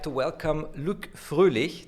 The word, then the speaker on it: Froehlich: I'd like to welcome Luc Froehlich. Did I pronounce that right? Perfectly, thank you. It's a German name, an Austrian name actually.